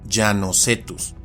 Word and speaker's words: Llanocetus: En el caso del de arriba, el nombre deriva del apellido llano, por lo que el género se pronuncia y castellaniza como llanocetus.